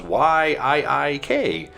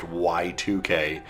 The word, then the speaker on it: YIIK: not right it says why iik the developers and act studio or act studios have come out and openly said it is actually pronounced y2k and of course big